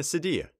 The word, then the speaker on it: sedia: we can think of someone sitting in a sediya la sedia the chair the couch or sofa